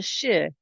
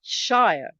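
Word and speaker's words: -shire: leerer York Cambridge Shear are pronounced the sheer not Shire the Shire belongs in The Hobbit and The Lord of the Rings okay now that I've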